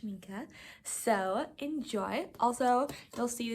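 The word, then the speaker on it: Schmincke: new shminka watercolors how that works I say schmink in the video but it's actually pronounced schinka so enjoy Also you'll see this is a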